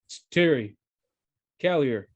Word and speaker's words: Terry Callier: mean do we even know that it's pronounced kellier like it could just be it could be kelly yeah he's well first of all he's he says terry callier on the album so oh right yes i